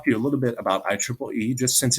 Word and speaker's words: IEEE: things we talked about IEEE that's actually the preferred way to pronounce it even though it's an acronym for institute for electrical